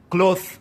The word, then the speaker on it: cloth: داسې به نه وایو چې کلوت به نه وایو، دا وایو cloth نو تاسې به د ټیچ لکه سې ته نږدې کوئ خو سې نه مطلق سې به نه وایي چې کلوس خو تقریبا تی به وایي ولې اواز داسې لکه سې cloth نو تی بالکل انګلیسي